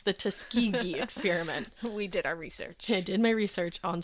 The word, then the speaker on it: Tuskegee: is the I need to look up this pronunciation actually. I looked it up. It's the Tuskegee experiment.